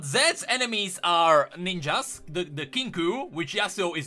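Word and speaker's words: Kinkou: Kinku, by the way, not Kinko, as I always pronounce it. It's Kinku.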